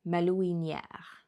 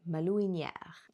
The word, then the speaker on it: malouinière: For example, I did have to look up quite a few words here, like malouinière. I also had to look up the pronunciation of it, malouinière.